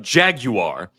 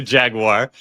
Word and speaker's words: Jaguar: I also I also appreciate your uh your use of the the British pronunciation of Jaguar as oppo as opposed to Jaguar as we got a nice view of the boot right there.